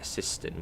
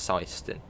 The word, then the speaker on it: Syston: he has syston apparently that's how you pronounce it as I was calling it assistant which sounds just better but apparently it's seistant which just sounds yeah